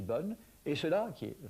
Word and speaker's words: bonne: On aura donc bonne qui s'écrit avec un e, mais on ne prononce pas le e. On ne dit pas bonne, on dit bonne.